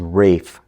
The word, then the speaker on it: Ralph: always viewed Ralph as Rafe. So, you learn something new every day. I didn't know this, but in in England, that's how you pronounce Ralph. That's the British way of pronouncing Ralph is Rafe.